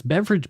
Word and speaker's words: Beveridge: And it's beverage. Beverage is spelled a little different than the drink, but it still made